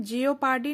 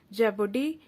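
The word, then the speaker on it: jeopardy: इसे हम जियोपार्डी नहीं पढ़ते, इसका प्रोनाउंसिएशन सही है जेपर्डी and hazard, HAZARD, hazard.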